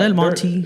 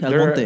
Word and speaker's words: El Monte: Yeah, Yeah, say it right. Not El Monte, El Monte.